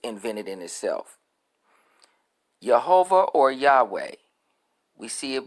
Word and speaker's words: Yahweh: the god of israel jehovah is a modern mispro pronunciation of the hebrews word resulting from combining the consonants of the name they have here j h v h which in the tetragrammaton it was y h w h with the vows of